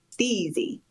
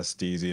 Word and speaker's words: Stiiizy: tnder trainings now and starting their Bud Tinder training by explaining it's pronounced stey which is a culture nod so stey Stone just like the Power Rangers I don't think Jason would remember that one yeah they told me uh they told me that they um it's pronounced either way but the the corporate guys like to call it uh steezy and others call it stizzy look at that's why